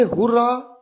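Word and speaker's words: Hurrah: आपके सामने सबसे पहला एग्जाम्पल है हुर्रा। इसे हुर्रा या हुर्रे दोनों तरीके से प्रोनाउंस किया जाता है।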